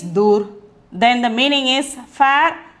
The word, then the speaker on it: दूर: pronunciation is dur, then the meaning is far or at a distance.